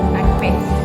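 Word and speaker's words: akpe: Akbe.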